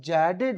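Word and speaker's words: jaded: तो जडेजा जडेजा साहब जैडेड हो गए। तो क्या बोलेंगे? अब इसका सही प्रोनाउंसिएशन जेडेड जेडेड हम लोग जेडेड ही बोल के याद करवाएंगे।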